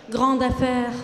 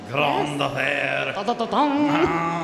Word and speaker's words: grande affaire: How do you say that in French? Grande affaire. Oh my gosh, it's almost the same. Grande affaire.